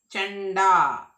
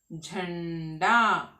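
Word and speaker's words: झंडा: When I say to read this word, you will say Chanda. Chanda. It is not Chanda. It is Jh. Jhanda.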